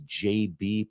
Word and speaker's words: JB: he is in fact Jabba the governor sorry apparently it's pronounced JB I'll try to remember